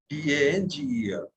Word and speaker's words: danger: Okay, you know AN is on, ER is at, so danger. Danger.